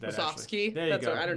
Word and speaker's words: Musovski: Danny Musovski in Seattle. I'm sure I butchered that. Musovski.